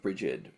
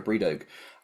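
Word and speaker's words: Brigid: make a doll of bridgid which I think they pronounce as like a breog um which gets paraded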